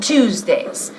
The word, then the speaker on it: Tuesday: We have lunch at home on Tuesdays. A ver, on Tuesdays. We have lunch at home on Tuesdays. Y fíjate en la pronunciación de Tuesday. Es como el número 2.